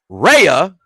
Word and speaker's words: Rhea: But here's Rhea Ripley, since the H is silent.